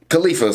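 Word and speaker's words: Kalifa: But the CP9 members, Khalifa's are there. So it was Khalifa. I did pronounce her name right.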